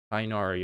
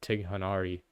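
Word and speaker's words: Tighnari: Clearly your student Tinari. Oh my god, I said his name so wrong. Tinari. He never said his name before. Tinari. Tinari. Okay, that's how you say it. I said Tiganari.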